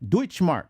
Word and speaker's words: Deutschmark: Was that how you spell it? Deutschmark.